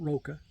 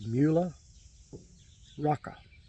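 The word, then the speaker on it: Mühle Rocca: In Germany and in Italy, it's pronounced Muhle, and it's Rocca, not Roka, not Muhla, it's Muhle Rocca. Except And the only difference in Italy is they roll the R.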